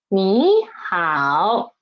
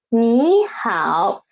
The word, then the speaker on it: 你好: They're all third tone words, third tone syllables. Then in this situation, we should change this one, this 你 into 你. Change it to the second tone. 你好.